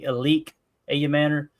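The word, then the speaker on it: Elic Ayomanor: Elly Ayamor, I think is how you say that name. Some people say Elique Ayam Manor.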